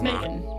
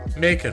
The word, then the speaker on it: Macon: You're putting emphasis on the second syllable. It's fine. I used to live in Georgia. It's just Macon. Macon. Okay. It's like bacon, but with an M. Macon.